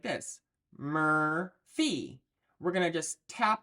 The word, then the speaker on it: Murphy: So for the word Murphy, we're going to cue it as 5M for mur, and then fee. Mur-fee. So that's going to look like this. Murphy.